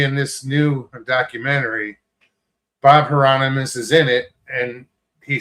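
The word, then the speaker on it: Heironimus: And Bob Hipporanus or Bob, I can't pronounce his last name. Hieronymus.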